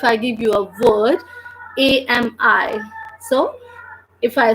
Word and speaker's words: ami: But if I read that word, if I read that proper whole word, I will pronounce that as AMI because the sound of letter A is A, the sound of letter M is M, and the sound of letter I is E. So that is becoming AMI.